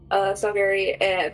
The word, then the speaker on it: Salgari: Before saying a very soft, prayer to it in Salgari, is that how it's pronounced? Yeah. Salgari, before sliding it on her wrist.